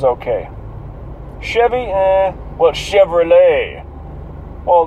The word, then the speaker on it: Chevrolet: Well, Chevrolet. Well, the T is silent. That's French as fuck, isn't it?